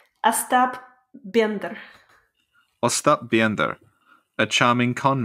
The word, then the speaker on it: Остап Бендер: Остап Бендер.